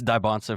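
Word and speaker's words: Dybantsa: Excuse my pronunciation, but Dbansa. Dibbonsa. Um, shout out the Mormons. Don't get at me. Shout out Soaking. Anyway, it's Dbansa for those out there that care about pronunciations.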